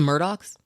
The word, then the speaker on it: Murdaugh: Oh, the Murdaughs? Murdaugh. They're spelled Murdaugh. They pronounce it Murdaugh, but it's Murdaugh. It's the dad who killed the son and the wife.